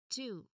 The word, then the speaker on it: two: Next we two. Again this is number two. How do you pronounce it? Two. So W here is a silent letter.